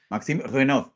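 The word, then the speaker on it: Maxime Reynaud: Y vamos con, a ver si lo pronuncio bien, Maxime Reinaud o ¿cómo se pronunciaría, Tony? ¿Tú cómo lo dirías? Pues te cuento el truco, es que el chico es francés, es de París. Sí. Maxime Renaud.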